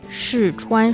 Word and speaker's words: 试穿: 试穿, 试 is the fourth tone, 穿 is the first tone.